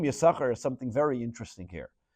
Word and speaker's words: Yisachar: You'll notice that the name Yisachar is something very interesting here. That generally, though we pronounce the word Yisachar, the name Yisachar, but in the Torah it has an extra sin.